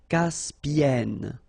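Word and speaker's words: Caspienne: And then double consonant here. And it's the same n. So it does open the sound here. So it's e a caspen. Caspen. Okay.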